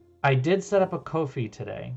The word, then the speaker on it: Ko-fi: I did set up a Ko-fi today. Coffee? Ko-fi? How do you pronounce it? I mean, it's supposed to be coffee, K-O-F-I, but yeah, I set that